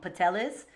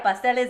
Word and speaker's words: pasteles: one, and in Hawaii they call them pateles. They don't even say the S. And I always laugh about that because they just don't know how to say it right. But yeah, pasteles and arroz gandule.